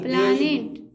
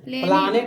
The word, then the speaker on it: planet: कितना बार मैंने बोला कि प्लानेट। हाँ, प्लानेट एंड थोड़ा सा देखिए, प्लानेट नहीं, प्लेनेट।